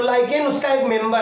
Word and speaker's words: lichen: एक लाइकेन नाम का एक पौधा होता है, लाइकेन, लाइचेन जैसा लिखा हुआ है, LICHEN, मे बी प्रोनाउंसिएशन में भी डिफरेंट।